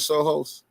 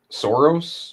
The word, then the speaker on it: Soros: are you familiar with George Soohos am I saying his name right? Soros. Sor Soros. Okay. I said it wrong.